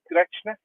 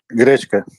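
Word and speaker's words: гречка: Am I pronouncing it correctly? Grechna. Grechka, yeah.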